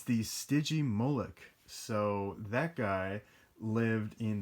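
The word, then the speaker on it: Stygimoloch: right there and i didn't know how to pronounce this for the longest time but i finally do it's the stygi molek so that guy lived in the foothills kind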